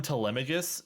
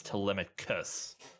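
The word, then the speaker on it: Telemachus: name tus or tus I kep calling him telemus with a G sound for so long but it's telic cus uh but yes penelopy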